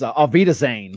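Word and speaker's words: auf Wiedersehen: Somehow we thought it would be an outpouring of the faithful to say, I can't even pronounce it, off Widerson. Oh, you know, that is, it's Avita Zane.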